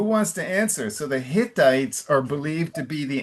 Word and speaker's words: Hittites: Now, the pronunciation of Hittites, this is where we want the Carioca R. Ah, verdade. Okay. All right, so it's like Hiu, it's Hittites. Okay.